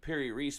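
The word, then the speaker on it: Piri Reis: The Piri-Reis map, I believe that's how you say it, is probably the most popular example.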